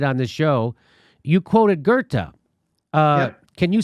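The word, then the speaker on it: Goethe: or you did on this show you quoted gerta uh can you spell it g-o-g-e-o t-h-a i think i think that's it something like that g-o-e-t-h-e gerta very good very good very good i was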